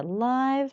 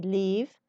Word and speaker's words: live: Live music. موسیقی زنده. You know, whenever we pronounce this word as a verb, we say leave. But whenever it's a kind of adjective, we say live.